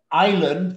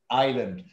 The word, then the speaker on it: island: world okay good now island the s is silent island good this is superlative